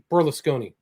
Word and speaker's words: Berlusconi: And so how do you pronounce his name again? Berlusconi.